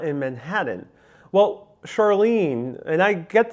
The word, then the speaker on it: Manhattan: We tend to pronounce the T's in Manhattan a little bit with more with D's. But the pronunciation of Manhattan usually is without any T sound, period, here in New York City.